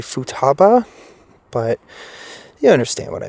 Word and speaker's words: Futaba: And I did mispronounce the area. It's actually Futaba, but you understand what I mean.